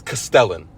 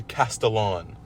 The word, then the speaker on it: Castellan: Oh, Castellian. Castellian. Castallian. Cast Okay. Castallian. Castallian. That's never I' I've seen so many people say this. It's Castellan. That's how I've That's how I've pronounced it my whole life.